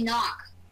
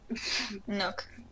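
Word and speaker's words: Nøkk: So if it's only say a 10-minute match or a 20-minute match or whatever it is, and I record that, I say knock. Nook.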